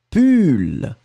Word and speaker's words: pull: Et le deuxième, on le prononce u, pull.